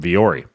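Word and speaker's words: Vuori: get a 25% discount off of anything from viore you go to V or E clothing and it's spelled kind of weird vu o RI vu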